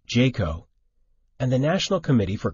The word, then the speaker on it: JCAHO: accreditation of hospital organizations also referred to as JCAHO pronounced Jayco and the National Committee